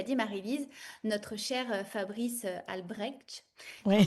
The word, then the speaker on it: Albrecht: Et puis, comme tu l'as dit, Marie-Lise, notre cher Fabrice Albrecht, on Oui, le prononce comme ça, va être avec vous aussi pour cette visite-là.